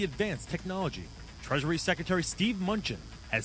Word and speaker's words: Mnuchin: Treasury Secretary Steve Mnuchin has said that he is not concerned about artificial intelligence taking U.S.